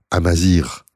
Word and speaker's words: amazighe: Amazighe, que je prononcerai vite Amazir, comme il se doit.